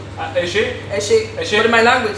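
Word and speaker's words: Ẹ ṣé: And in Yoruba it's Eshe. Eshe? Eshe.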